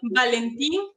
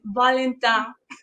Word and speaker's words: Valentin: Se llama, bueno, hablando en nuestro español, Valentín, pero con la pronunciación de acá es Valentin.